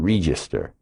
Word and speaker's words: Register: Register. Spelled like the cash register, but you pronounce it re as in reefer.